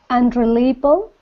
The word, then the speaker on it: unreliable: look at those dots it's got one two 3 four five five syllables one dot per syllable and the stress is on the third syllable because the Big Dot